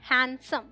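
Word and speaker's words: handsome: तो D silent है यहाँ पे, ये है हैंडसम।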